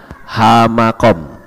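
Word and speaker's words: המקום: Kalau kita melihat di samping ini ada yang saya tulis dengan kata hamakom, he, mem, kaf, waw, dan mem. Membacanya hamakom.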